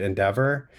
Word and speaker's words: NDVR: In February 2020, I left AQR and joined Endeavor. It's spelled NDVR. It's devoweled because we're a modern wealth optimization firm.